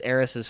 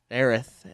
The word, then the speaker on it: Aerith: is right before 7, and the stuff with Aerith and her birth obviously is way before. It's hard to say the name right now, isn't it? I know. Well, Aerith is how it's supposed to be pronounced, but we're so used to the wrong